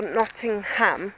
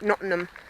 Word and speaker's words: Nottingham: come to Nottingham or Nottingham sorry southern accent gets in the way and I pronounced it not in them and people go no it's not in ham and I can't actually